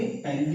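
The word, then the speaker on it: ptyalin: टाइलिन की spelling PTYLIN से शुरू होता है, ओके।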